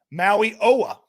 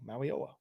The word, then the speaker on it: Mauigoa: Touch of Trent says, I said it right. Mauigoa. There you go. Mauigoa.